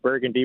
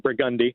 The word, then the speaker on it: Burgundy: Like I was just driving down Chapatula Street earlier today and we don't call Burgundy Street Burgundy, we call it Brigundi.